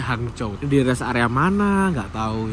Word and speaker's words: Hangzhou: jam lagi menuju ke tulisannya itu Hangzou tapi kalau bacanya hangcou dies area mana enggak tahu ini.